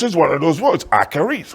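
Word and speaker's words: אחרית: That word is pronounced akarith. It's spelled A-C-H-A-R-I-Y-T-H. Akarith. It's a Hebrew word pronounced akarith. Akarith.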